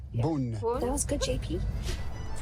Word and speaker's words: Beaune: Although we're not pronouncing it in the true French way, which I have not figured out how to do. Beaune. Beaune.